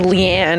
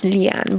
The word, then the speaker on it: Leanne: Because so usually people will say like Leanne, and it's like it's not that. No, it's Leanne.